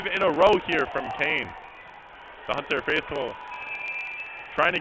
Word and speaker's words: Kean: on the outside and Keen have gone and Kane have gone on another 3.3 now excuse me if I've said Keen a couple times but they're quite literally fell Keen but pronounced Kane I kid you not